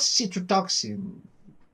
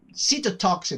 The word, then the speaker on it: cytotoxin: So yeah, I think it was citrotoxin. Cytotoxin, I think it was, not citro.